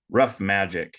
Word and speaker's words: Ruff Majik: please check them out rough magic that's spelled r-u-f-f-m-a-j ik so there's no c in there it's uh K instead rough magic dot